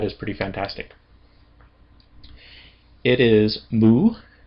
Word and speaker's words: mu: It's called moo. Soapa lambda moo. Eotappa lambda moo. lamb mu. Let's go ahead and pronounce some words.